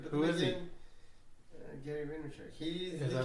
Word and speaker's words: Vaynerchuk: Vandercheck? Gary Vaynerchuk.